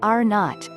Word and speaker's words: R0: In public health we measure something called the R0, pronounced R0, which is the average number of people infected by a person with the virus, says Dr.